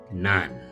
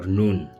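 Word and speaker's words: Nun: and Joshua son of Nan or Non depending on how you pronounce that.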